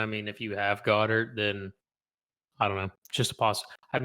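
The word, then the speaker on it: Goedert: Goddard.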